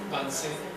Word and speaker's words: Vincennes: Vicens, ¿cómo se pronuncia? Vincennes, donde pues, será profesor hasta finales de los años 80.